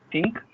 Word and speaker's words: THINQ: She joined Think, it's pronounced THINQ, and education research group with the aim to help learners develop the critical thinking capacities and rational inquiry.